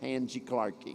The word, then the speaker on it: Randy Clark: That's the way you say my name in Portuguese, Angie Clarkie. Esa es la forma en que dices mi nombre en portugués, Randy Clark. Because the R has an H sound at the Porque beginning.